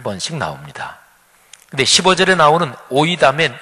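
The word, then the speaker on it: οἴδαμεν: 헬라어 원문으로 말하면 오이다멘 이렇게 발음합니다.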